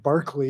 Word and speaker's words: Berkeley: I think they pronounced it Barclay. That's back in right. Oh, like England.